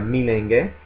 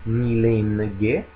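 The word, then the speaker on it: मिलेंगे: Attenzione anche a milenge, ci incontreremo, perché la E non è seguita da una vera e propria N, quindi non è milenge, non è milenge, ma è milenge.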